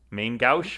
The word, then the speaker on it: main gauche: because i don't actually know how to properly pronounce it's a a french word um which is main gauche that's pretty much it main gauche okay i knew that i was close on